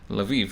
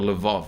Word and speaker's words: Lviv: Lviv, Lviv, if for those interested. Lviv. In Russian, it's spelled Lvov apparently, but Ukrainians are very adamant about it.